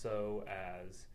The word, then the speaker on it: psoas: little bit about your so as and I think my my title went up there but basically it's it's written PS a psoas and it's pronounced so as and most people are